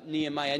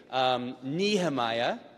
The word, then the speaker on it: Nehemiah: character in this book there's the American Way Nehemiah there's the Irish way Nehemiah and then there's the proper way which is some Hebrew thing that we can't even